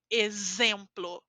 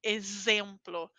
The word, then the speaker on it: exemplo: Nesse caso, eu tenho a letra X entre duas vogais es, então eu falo z, exemplo, exemplo. Aquela pronúncia do S entre vogais, que nós fazemos como o dente vibrando, exemplo, certo?